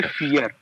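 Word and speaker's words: vier: English में पढ़ोगे यर बट अब मैंने आपको बताया व प्रोनाउंस होता है जर्मन में ए तो पढ़ोगे फियर फर डरने वाला फियर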